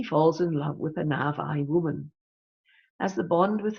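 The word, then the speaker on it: Na'vi: okay thanks nor he says it should be pronounced Navi right there's a sub-theme of environmentalism running throughout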